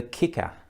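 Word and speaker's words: Kyckr: So yes, the Kicker, and that is how you say it, I've discovered since.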